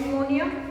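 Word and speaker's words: pneumoniae: Causative agent bacteria कौन कौन सा होता है, डिप्लोकोकस निमोनिया, इसमें P साइलेंट रहेगा, diplococcus निमोनिया, another would be Streptococcus निमोनिया, The next is Haemophilus influenza.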